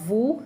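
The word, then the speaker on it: vous: Then we have vu as an example. The s is silent which I want to explain.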